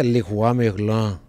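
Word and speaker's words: Leroy Merlin: que é legal também tem um monte de marcas que a gente fala no Brasil do jeito que a gente pronuncia aqui não é o jeito que se pronuncia lá né aquela marca de materal de constitução loja de material de construção Leroi Merlin lá na França leris merlan tem um monte de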